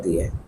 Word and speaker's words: the: ই, আই, ও, ইও, এই পাঁচটা লেটার দিয়ে কোনো ওয়ার্ডের শুরু হয়, তার আগে যদি THE থাকে তাহলে উচ্চারণ হবে দি।